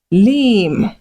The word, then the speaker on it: limb: So when words end with M and B, focus on the M, ignore the B.